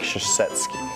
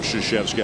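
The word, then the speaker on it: Krzyzewski: I give him credit for the spelling of Shashevski. I'm not sure he quite nailed the pronunciation of Shasheeski, but how about the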